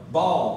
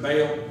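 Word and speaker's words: Baal: comes Jezebel and her worship of ball or Bale I like the I love the southern verse Bale but you actually can pronounce it ball and the Boline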